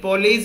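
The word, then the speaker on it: Poiseuille: यानी चाय के फिल्ट्रेशन की थ्योरी, यानी फिल्ट्रेशन की थ्योरी है, बताओ पोलियो यानी पॉलीज इक्वेशन, है ना? हाँ, पॉलीज इक्वेशन में एस ई साइलेंट होता है, एस साइलेंट होता है, याद रखना स्पेलिंग, है ना?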